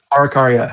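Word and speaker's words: Araucaria: Arakaria. I don't know. Arakaya.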